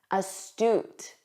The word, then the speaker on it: astute: Notice that end, oot, astute, astute.